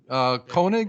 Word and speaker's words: Koenig: His name is Austin Koenig. Is that correct? How I pronounce your name?